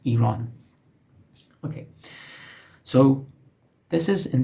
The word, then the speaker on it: Iran: Some folks say, from peculiar countries, they say Iran, which is not correct. It's Iran.